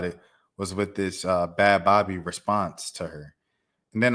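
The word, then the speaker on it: Bhad Bhabie: old the Alabama Barker bad Bobby thing first of all I thought the girl's name was bad Barbie like bad Bobby like but but like you pronounce it Bobby but like she had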